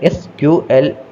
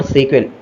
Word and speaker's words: SQL: It's pronounced either SQL or SQL, both are totally fine.